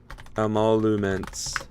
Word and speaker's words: emoluments: Okay, how do you pronounce emoluments? Emoluments. Well, I always threw in an extra M there.